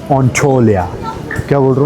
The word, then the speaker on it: Antalya: इट्स नॉट एंटालिया, इट्स नॉट एंटोलिया, इट्स ऑन्टोलिया।